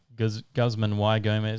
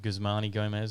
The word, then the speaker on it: Guzman y Gomez: always get it wrong i always call it guzman y gomez instead of gusmani gomez as it is oh yeah yeah why is pronounced e in spanish i don't think i